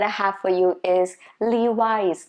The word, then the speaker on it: Levi's: Then next one that I have for you is Levi's. Not Levi's. No. Not Louis. No. Levi's.